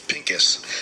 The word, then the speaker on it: Pinkus: stuff i can pronounce it how do you pronounce it again it's pinkis oh pink yes that's right the pills are